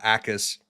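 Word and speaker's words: Jacas: out and Gabe uh Ais their edge rusher. And yes, Blake looked it up beforehand. Apparently, you don't pronounce the J.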